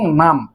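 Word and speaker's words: numb: এবং নাম, এখানে কিন্তু এই যে বিটি সাইলেন্ট বি, এই বির উচ্চারণ হবে না, শুধু এটুকু উচ্চারণ করতে হবে, নাম।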